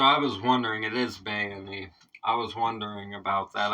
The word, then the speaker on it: Bayini: man okay so I was wondering it is bony I was wondering about that I wasn't sure